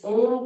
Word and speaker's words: ओम: 70% हमें ओ बोलना है और 30% म। ओ 3 बार भ्रामरी, भरिए श्वास। तीन बार होने के बाद हाथ नीचे, आंखें पूर्णता से बंद रहेगी। 3 बार पवित्र ओम का उच्चारण मुख से